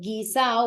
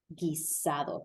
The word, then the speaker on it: guisado: But guisado, we can see the feature of Puerto Rican pronunciation where they drop the D. That would normally be guisado. Guisado, but it won't sound like that here. It'll sound like guisado.